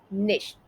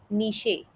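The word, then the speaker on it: niche: अगला शब्द है निश। निश। निश का गलत उच्चारण कुछ इस तरीके से सुनाई देता है, नीशे, निच। बट इसका सही उच्चारण इस तरीके से है, निश।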